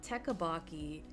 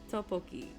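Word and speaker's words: 떡볶이: I remember asking my friend, "Yeah, I love teaaki." And she's Korean, so she's like, "What? What are you saying?" And I'm like, "You know, teabaki." And she's like, "How do you spell it? She's like, "Oh, Topoki." And I'm like, "Oh, that is so that sounds so much better than what I was trying to say."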